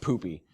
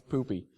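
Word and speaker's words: Pupy: did ask and yes apparently it's pronounced poopy all right it's poopy so uh that being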